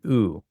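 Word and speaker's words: ου: a diphthong here, and this diphthong is a unique sound. It's like oo. So, this is the only way we get the sound oo. Koo Loo Moo Zoo Xoo Foo Goo So, hard G here.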